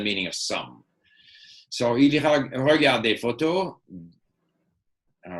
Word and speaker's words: regarde: Like, make sure if you're going to pronounce the E at the end, it's an E. Il regarde. Voilà. Or it disappears. The E is almost like a non-sound, right?